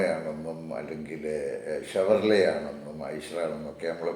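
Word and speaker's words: Chevrolet: ചില ആൾക്കാർ പറയുന്നത് കേൾക്കാം ചെവർലെറ്റ് എന്ന് പറയുന്നതാണ് ചെവർലെറ്റ് എന്ന് പറയുന്ന വണ്ടി അതിന്റെ സ്പെല്ലിങ് അങ്ങനെ ചെവർലെറ്റ് അങ്ങനെ പറയാം പക്ഷേ അതിന്റെ യഥാർത്ഥത്തിലുള്ള ഉച്ചാരണം എന്ന് പറയുന്നത് ഷവർലേ എന്നാണ് ഷവർലേ എന്ന് ആണ് അത്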